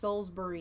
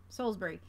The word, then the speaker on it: Salisbury: ill ribeyes I says it's pronounced Solsbury Salisbury thank you thank you Solsbury why the delay and